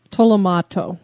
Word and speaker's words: Tolomato: the cemetery the Tomo how do you say it again Tomo tolomato yeah in the Tomato